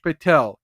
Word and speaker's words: Patel: Shaban mocking at the way I say Kash Patel's name. Patel, Kash Patel. I just separated the two syllables. Kash Patel, Patel.